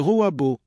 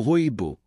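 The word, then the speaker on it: rooibos: Il s'agit d'un thé qui, bien qu'exotique, est aujourd'hui connu et apprécié dans le monde entier, le robo ou roibo comme certains amateurs le prononcent plus simplement.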